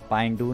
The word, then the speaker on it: पांडू: एक पांडू नाम का है, वैसे उस है तो उसका नाम पेंडू है, स्पेलिंग में पांडू लिखा हुआ है।